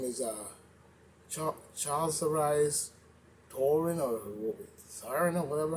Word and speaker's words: Charlize: Her name is Charles Arise Torin or Siren or whatever her name is, Sparks Anger. I think it's Charles Rise. How she say her name? Childs or whatever. It's Charlize.